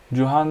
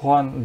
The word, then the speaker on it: Juan: Şu Cuhan değil de Juan diye. İspanyolca da JH diye okunuyor.